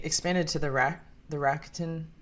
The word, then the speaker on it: Rakuten: I recently expanded to the ra the rakutin. Is that how you pronounce that? Rakuten. Yes. Yeah.